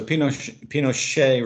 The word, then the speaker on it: Pinochet: Okay, so the Pinochet regime, that's how you pronounce that surname, AJ, was a CIA-backed regime.